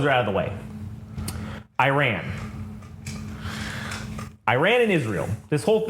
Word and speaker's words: Iran: think it's called or no it's Iran that's how you say it I'm just an [